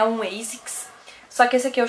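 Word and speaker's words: ASICS: Eu pesquisei para falar bem certinho para vocês o nome e daí assim eu sempre falava a six, mas o correto de pronunciar é ASIX, tá?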